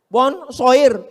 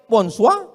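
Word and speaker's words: bonsoir: Emangnya bahasa Prancis mudah tulisannya bon Jur bacanya bonjou bon shir bonswa jangan pelajari bahasa-bahasa orang kafir ini ini bahasanya munafik tulisan enggak sesuai dengan bacaan one dibaca Wan semua bahasa punya ciri khas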